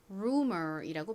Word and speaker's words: rumor: 여기서는 U가 우 소리로 쓰였죠. 그래서 R의 리을 소리, U의 우 소리, M의 미음 소리, OR의 소리를 연결하여 rumor이라고 발음합니다. 한국식으로는 rumor라고 발음하고 표기하죠.